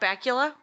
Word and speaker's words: Bakula: Scott Bakula's name rhymes with Butt Cracula.